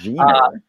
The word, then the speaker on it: Jenner: Excuse me for pronouncing the G like a J for those of you that are reading it. Jenner.